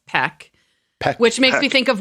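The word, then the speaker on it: Paik: mr p piak he he pronounces it as peck i know we've had an argument about how to say it and we're just calling him mr p but apparently it's peck which makes me think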